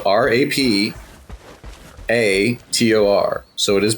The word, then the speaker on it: Rapator: It is spelled Rapator, so it is pronounced Rapator.